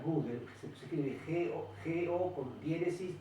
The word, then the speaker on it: Gödel: Un señor se escribe Gödel, se pronuncia Gödel, se escribe G-O con diéresis D-L, esbozó el